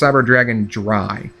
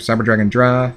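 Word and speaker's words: Cyber Dragon Drei: It's pronounced Cyber Dragon Dry.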